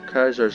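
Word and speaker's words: Caesar: gonna be untrust fairly soon here hey Denton kaisers legions growing and it's fast cars are by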